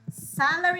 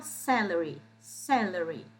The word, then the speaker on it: salary: Salary é bem parecido com o português, salário. Só a pronúncia que eu quero que vocês concentrem nela, salary, tá? Então, aqui é o mais forte, salary.